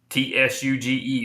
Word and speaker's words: Tsuge: Tsuge is the way it's pronounced.